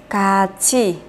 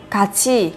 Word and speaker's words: 같이: Nhưng khi phát âm các bạn sẽ phát âm như thế này sẽ là cát chi. Nối âm thờ lên kết hợp với từ này sẽ thành cát chi, cát chi.